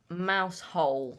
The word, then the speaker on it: Mousehole: And I got it done in Mousehole in Cornwall, which is spelt mouse hole in one word, but it's pronounced Mousehole.